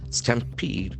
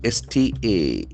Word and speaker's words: stampede: 11 die in stampede. S-T-A-M-P-E-D-E. That is very important noun. Stampede. Stampede, the accent falls into second syllable.